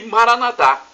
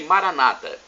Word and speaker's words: Maranatá: Os evangélicos e protestantes, nossos irmãos, dizem Maranata. Não tem problema. A pronúncia é a mesma e o significado o mesmo.